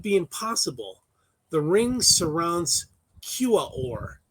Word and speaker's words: Quaoar: The ring surrounds Quaoar, spelled Quaoar. And I want to point out that's the first non-Hawaiian word that has 4 syllables in a row.